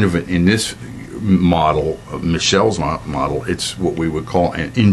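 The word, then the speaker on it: Michels: and formal organization um robert michelle's and it's pronounced michelle's it's spelled michael's but the pronunciation is michelle's um he didn't he didn't uh um he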